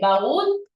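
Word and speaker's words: baúl: usted dice Ah profe baú es una palabra que lleva la mayor fuerza de voz en la última sílaba lo que la hace una palabra aguda Pero mira es una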